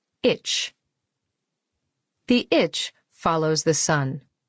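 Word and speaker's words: ITCZ: i t c z pronounced like itch the itch follows the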